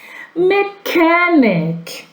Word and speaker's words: mechanic: Mas, professora, está escrito com CH. Teacher também é com CH, eu não vou falar teacher. As palavras são assim, meus amores. Então, relaxa. O som é esse, mechanic, mecânico.